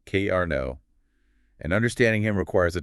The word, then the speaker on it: Karna: We are looking at a central figure named Cara pronounced K Arno.